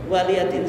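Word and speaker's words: وَلِيَ دِينِ: Itu bacanya waliyadin, bukan waliyadin. Banyak orang yang baca lakum dinukum waliyadin. Yang betul apa? Waliyadin.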